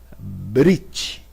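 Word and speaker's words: ברית: Olha, aqui nós temos a palavra brit. Brit. Olha, pela regra, deveríamos ter um sonzinho de B aqui, ainda que leve brit.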